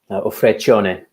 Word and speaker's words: Vacheron: Vacheron, that's how you pronounce it.